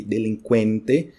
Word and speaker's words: delinquente: Tem a pronúncia do QU, né, que é a mesma do espanhol. Sendo que em espanhol é CU, né? Tipo nesse caso aqui, delinquente. E olha o T no final, né?